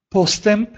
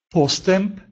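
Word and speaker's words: postęp: А вот «э» с хвостиком произносится точно так же, как «м», тоже перед этими же звуками. Например, «постемп», «постемп» – «прогресс».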